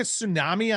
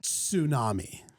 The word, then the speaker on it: tsunami: I like to pronounce the T insami.